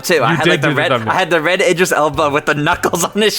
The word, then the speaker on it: Idris Elba: On August 10th, it was announced that Joey, can you pronounce the name for me? Because Idris Elba.